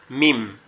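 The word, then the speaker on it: ميم: মিমটা কোথা থেকে উচ্চারণ হয়? মিমটা আমাদের দুই ঠোঁট, এই যে দুই ঠোঁটের যে এই যে মাঝের যে নরম অংশটা আছে এখান থেকে জি। মিম মিম মিম মিম। মিমটা এরকম মিম।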